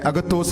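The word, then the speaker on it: ἀγαθός: में, there's a word, it is called agathos, agathos, agathos. और इस वचन का प्रोनाउंसिएशन है अगतोस करके।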